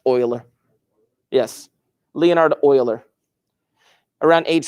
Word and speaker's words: Euler: time do it say again it's euler it's pronounced euler yes leonardo euler around age 30 he went